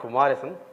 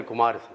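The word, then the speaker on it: Kumaresan: And my name is not Kumarasan. Yeah. The moment you say K U M E R, then your natural instinct is to prove Yeah, pronounce it as Kumar. Then you have to end it with the E S A N then you say Kumarasan.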